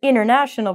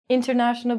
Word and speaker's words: international: So if you're an international person, we're going to take out the T and we're going to say international becomes international.